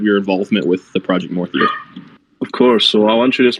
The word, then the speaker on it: MORTHIR: How do we pronounce the project's name? Okay, so MORTHIR. So yeah, MORTHIR.